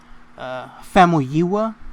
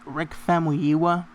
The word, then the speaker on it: Famuyiwa: Famuyiwa. I think that's how it's pronounced. Rick Famuyiwa.